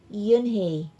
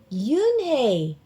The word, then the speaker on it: Unhei: Yes, it's pronounced Yunehi and it means grace, Mr. Kim added. Yunhi, Joey said slowly and this time perfectly.